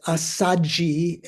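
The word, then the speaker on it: Assaji: So the Ashva, the ASHV, when you try to transliterate from Sanskrit into Pali, which is a more easy language to pronounce, you don't have conjunct consonants that are different from one another. So SH followed by V doesn't work in Pali, so they just double the S. So it's Asaji and rather than Asvajit in Sanskrit.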